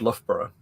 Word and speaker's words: Loughborough: twice, and it's pronounced Loughborough. But because of those two OUGH bits that are both pronounced differently in the same word, just to make it extra fun and irritating.